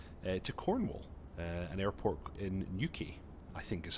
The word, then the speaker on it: Newquay: We're going to do a flight from Southampton to Cornwall, an airport in Newquay, I think is how you pronounce it, but I'm sure local types could correct me if I'm wrong.